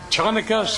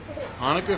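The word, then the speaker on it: Chanukah: It is, what is Chanaka's Festival of Lights? Hanukkah Festival of Lights. You betcha. Beautiful Oh, day. yes, the C is silent, isn't it?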